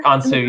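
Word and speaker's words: Consu: Lucas, is that how they pronounced it? Do you remember? Kansu, yeah.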